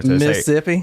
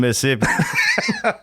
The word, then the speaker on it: Mississippi: Southern actually when you when you pronounce Mississippi you don't pronounce the other set of s's that's how you know somebody's from there Mississippi I'm from Mississippi oh yeah so if